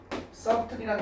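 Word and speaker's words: subtle: 민감한 있죠 민감한 민감한 썸틀이라는 단어가 있죠 그래서 b가 묵음이죠 사일런트 사운드입니다 이건 뭐야 미이묘한 조금씩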